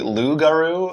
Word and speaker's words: loup-garou: to you I believe I think it's a silent P I can't be positive about that lude loup-garou it means werewolf or